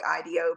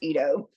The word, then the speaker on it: Ido: now it looks like it says Idol like Ideo but it's it's pronounced Ito um but it is literally a a a